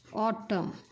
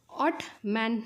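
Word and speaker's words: autumn: ऑटम काय आहे बघा ऑटम ऑट मॅन नाही लक्षात आलं का ऑटमन नाही त ह्याला काय म्हणायचं बघा ऑटम काय म्हणायचं ऑटम आणि ह्यामध्ये जो काही सायलेंट लेटर आहे तो काय आहे बघा तर तो आहे एन काय आहे बघा चला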